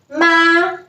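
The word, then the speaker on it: 妈: right structure for example this character pronunciation is ma and the meaning is mother so as you can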